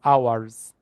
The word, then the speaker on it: hours: It is hours. Hours. H is silent.